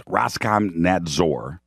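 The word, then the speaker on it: Роскомнадзор: warnings Russian internet watchdog Roscommon nods or which is Roskam nads or that's how you say it Roskam nads or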